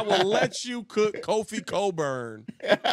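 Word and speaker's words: Cockburn: I will let you cook Kofi Coburn, whose name has an unexplicable CK in it that nobody wants to pronounce.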